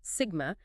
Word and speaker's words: sigma: it conductivity denoted by the Greek letter sus pronounced Sigma is simply the inverse